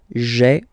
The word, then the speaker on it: j'ai: So j apostrophe a I. Remember, when you combine this a I, you get the e sound.